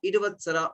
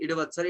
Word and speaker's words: Idavatsara: The yuga period of 5 years, whose constituent years are called Samvatsara, Prativatsara, Idavatsara, Anuvatsara, and Idavatsara. Sorry, I am pronouncing it Idavatsara. It is Idavatsar.